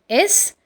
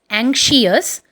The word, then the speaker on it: anxious: And the last word which we are going to discuss is Anxious, which is not pronounced as anxious, but it is pronounced as anxious.